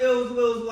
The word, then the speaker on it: Illzwillz: Yes, so it's Ills Wills, and that's Ill Will with two Z's, and it's spelled ILLZWILLZ.